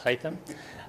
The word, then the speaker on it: Hayam: The easy way to pronounce my name is to say hi Tim. So it's Hayam.